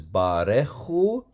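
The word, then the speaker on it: ברכו: Notice this is barechu. So it's like a long vowel kind of spreads itself out and makes an open syllable. Barechu. So that you have to pronounce the shva here. You have to vocalize it.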